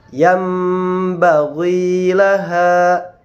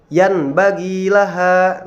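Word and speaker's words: ينبغي لها: Yambaghi laha, tidak dibaca yanbaghi laha. Nah, tetapi dibaca yambaghi laha.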